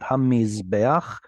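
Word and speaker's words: הַמִּזְבֵּחַ: And then that's the furtive patach. So it's Yeah. pronounced before the chet. Hamizbeach.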